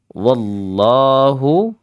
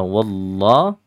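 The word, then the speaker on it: والله: di ayat yang ke-23 wallahu aamu ada wallah ya Ingat jangan dibaca walla atau w walla Ah gitu ya wa dan wa-nya pun bukan Hua tapi wa biasa ya wallah ya Wa bertemu lafzun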